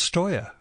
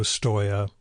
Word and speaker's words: Stoya: her website is hello Stoia which is spelled just like it sounds all one word again